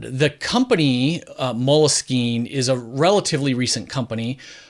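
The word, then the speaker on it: Moleskine: the right page and they say there is no one right way to say it and and it's because it's actually a French word the company Mulla scheme is a relatively recent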